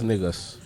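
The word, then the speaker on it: Negus: Yeah, it's it's spelled like the- N-E-G-U-S, right. like the king.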